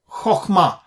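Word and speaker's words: חכמה: Kat then you should treat it as a short vowel and pronounce it as o rather than a okay that's what he's saying so let's take an example this word HMA HMA means wisdom and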